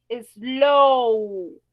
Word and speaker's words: slow: Slow. Cuando yo digo slow, si ustedes se dan cuenta, yo hago el sonido de una O. Si yo dijera slow, slow, esa sería una vocal corta.